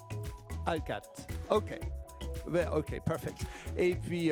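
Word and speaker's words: Hallegatte: Mais je pense que on prononce votre nom à la française, je crois, Monsieur Hallegate, c'est ça, ou est-ce que vous préférez Hallegate? Hallegate.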